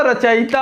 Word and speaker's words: रचयिता: रचयिता नहीं होता, रचयिता होता है, ई नहीं वहाँ होगा, क्या होगा? या पे छोटी ई होगी।